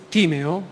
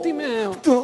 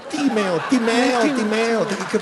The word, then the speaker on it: Timeo: Nel Timeo? No, Timeo. Quelli del classico ci mangiano, no? Timeo.